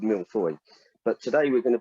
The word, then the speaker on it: mille-feuille: in england but in in french it's called milfoy but today we're going to be making a